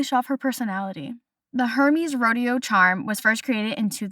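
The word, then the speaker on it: Hermès: rest of the episode because the H is silent and it is more Hermes, not Hermes.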